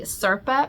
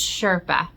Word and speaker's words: Sherpa: look I found a Serpa pillow no a Sur no okay I'm saying it wrong someone corrected me in the last video it's not surpa it's Sherpa I always say words